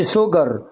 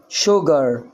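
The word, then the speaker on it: sugar: القاعده طبعا هنا سكر اه ماقولش سوجر شوجر شوجر تمام نسيج اهي ادي الاس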